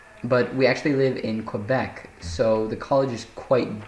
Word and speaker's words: Quebec: to college, but we actually live in Quebec, so the college is quite different. It's pronounced Quebec.